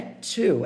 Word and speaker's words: two: Isso aqui não é true. É two, é quase como se fosse um TS, o two, ok?